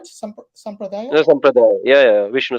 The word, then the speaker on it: sampradaya: you have the different sampradaya. Mhm. How do you say that? Yes, Right? yes, I know about that. Yeah, I know about that. Yeah. Yeah. Did I say it right? Sampradaya?